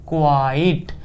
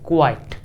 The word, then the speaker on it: quite: spellings भी अलग-अलग हैं इसको क्या पढ़ेंगे क्यू यू आई टी ई इसको पढ़ेंगे हम क्वाइट जी हां सही सुना आपने क्वाइट ओके चलिए कुछ एग्जांपल्स